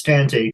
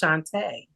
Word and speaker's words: Chantea: other guests um Ms tanti hey Andrew so what do you want to know and my name is it's actually pronounced Shantae oh Shantae Isn't that